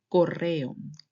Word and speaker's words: correo: if it's written with double R. For example, correo. Correo. In that case, you make a strong sound of the R.